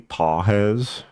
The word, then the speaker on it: Pages: Uh, I would go I would go Andy Pawheads. That's how you say his name.